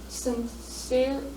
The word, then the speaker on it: Sincere: seeing a touchdown slip through his hands, Mansfield's Sincere, is that how you say it?